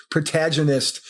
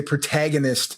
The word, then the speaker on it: protagonist: but it's also because I love to hear you pronounce protaginist in in that Australian way whereas an America we would say protagonist so I just every